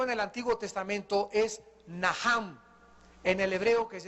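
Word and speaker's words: נחם: el Antiguo Testamento es naham en el hebreo que se escribe nachan la ch en el hebreo se pronuncia como j y significa cambiar la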